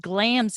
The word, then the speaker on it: Glamis: monster of glamis castle which is pronounced glam's castle located beside the village of